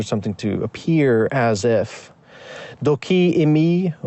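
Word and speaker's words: δοκεῖ μοι: Doki imi, or the Erasmians would pronounce it doke emoi, means it seems to me, it appears to me.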